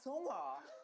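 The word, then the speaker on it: Seonghwa: This is how they pronounce their names. Okay. Hi, my name is Songhwa.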